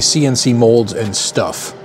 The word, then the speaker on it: CNC Molds N Stuff: And this one happens to be, and it's actually CNC Molds and Stuff. That's how it's pronounced.